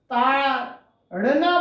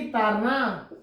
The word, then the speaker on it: ताड़ना: घर बोल देंगी, लेकिन जहां ताड़ना बोलना है तो इसको क्या बोलेंगी? तारना। अड़ा बोल ही नहीं सकेंगी, उच्चारण है ही नहीं।